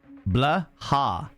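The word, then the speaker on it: Blåhaj: Blah. Blah. The shark. Okay. The J is silent.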